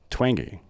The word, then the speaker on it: Twenge: have a very special guest today Dr Jean twangy is that right wow got it right how